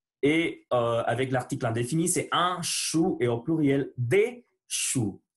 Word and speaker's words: chou: Un chou. Au ou en français, au u, son ou. Un chou, les choux. Voilà la prononciation du ch. On fait silence.